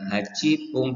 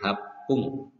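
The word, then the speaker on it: はっぷん: 8 menit bukan hacipung tetapi hapung.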